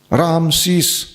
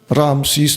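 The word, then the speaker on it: رعمسیس: اس فرعون کا نام اب یہ تلفظ کوئی کنفرم نہیں ہے، را عین میم سین یا سین، رامسیس۔ یہ فرعون تو مصر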